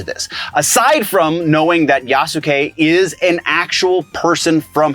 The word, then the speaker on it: Yasuke: I see that yasuke yasuke I think is how you say his name yeah yasuke I see that Yas